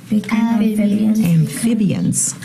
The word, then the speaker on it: amphibians: Amphibians. Yeah, amphibians. Amphibians. And it's a tricky one to say. Yeah. PH stands for an F, but it's not spelled like F, like an amphibians.